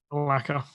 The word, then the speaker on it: Malacca: Malacca.